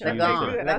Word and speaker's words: Lagon: Lagon.